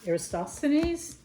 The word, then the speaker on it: Eratosthenes: So this is about, I always say his name wrong. It's Eratosthenes.